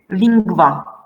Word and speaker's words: lingua: Now this NGU is pronounced as NGV. Now let me show you. Sanguis, pinguis, lingua, ungvis, ungventum.